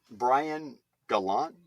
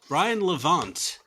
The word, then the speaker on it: Brian Levant: Brian Gallant? No, Vallant. I'm sorry, I got his name wrong. Shit. Brian Levant.